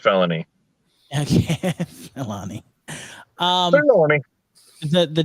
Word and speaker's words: Filoni: are screwing with us it's pronounced felony okay melanie um the